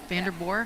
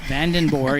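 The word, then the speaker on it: Vandenboor: And she said, "Yep, van like the vehicle and and then boore."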